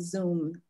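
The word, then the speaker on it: Xoom: anybody know um uh somebody said they love zoom i don't know it's but it's spelled differently xo for transferring funds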